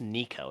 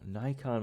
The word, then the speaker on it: Niko: Robo says we're pronouncing it wrong. It's Nico, just N-I-K-O, Nico. Nico? Is there no N? Well, Nico, Ni. That makes so much sense. Nico, Ni. Oh, Nikon was so stupid.